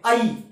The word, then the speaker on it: ঐ: সংস্কৃতের ক্ষেত্রে কিন্তু ঐ এবং ঔ এই উচ্চারণটি সম্পূর্ণভাবে ভুল। তাহলে এর উচ্চারণটা কিরকম হবে? না ঐ এবং ঔ এই বর্ণটির উচ্চারণ হবে আই।